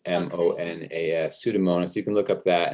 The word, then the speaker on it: Pseudomonas: the word pseudo, and then monas is spelled pretty much like it sounds. I think it's M-O-N-A-S, Pseudomonas.